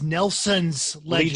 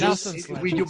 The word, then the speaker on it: Nelson Ledges: But we pronounce Nelson Ledges as Nelson's Ledges. Nelson's Ledges.